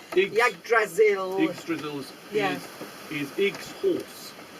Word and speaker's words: Yggdrasil: And How do you pronounce the tree? Yggdrasil. Oh, I was going to say, because I can never get Which that is pronunciation. Yggdrasil.